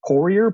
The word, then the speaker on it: Poirier: Funny, it's so in America it was Americanized to just Poirier, but really any kind of like variation on it, like what you had there, works.